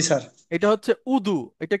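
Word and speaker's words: وضوء: আচ্ছা, আমরা বলি না অজু, জি জি স্যার। এটা হচ্ছে উদু।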